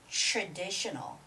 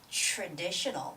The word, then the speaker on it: traditional: it's extra extra or i see the word traditional traditional that's also the tr sound right so it's got